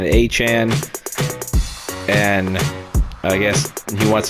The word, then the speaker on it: Etienne: was ETN for the longest time, but I guess he decided that he wants to go by his actual pronunciation, Etienne, and I guess he